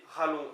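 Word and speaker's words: c'halon: Donc Eralon, donc H-E, mais qui se prononce E, Ralon, C apostrophe H-A-L-O-N, donc E pour son, Ralon pour cœur, galon, rallon, hein.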